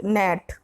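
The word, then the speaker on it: gnat: Question number 22, which letter is silent in the word नेट? Option A ji, option B N, option C A, option D टी। तो इसका right answer हो जाएगा option A जी, इसमें जी silent है।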